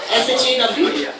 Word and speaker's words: Shaw: Alright, is it Shaw or please don't tell me it's Shah and they got a spelling mistake. How do you spell that? Shaw. SHAW?